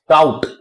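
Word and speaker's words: doubt: इसी तरह से कॉम, डेट, डाउट, इसे हम लोग पढ़ते हैं डाउट, ना कि डाउट। यहां बी साइलेंट रहता है।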